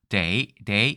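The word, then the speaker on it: 茶: 이렇게 나뉘는데 복건성에서는 차를 다라고 발음을 안 했고 day 이렇게 얘기했는데 day, 때처럼 들렸을 거예요.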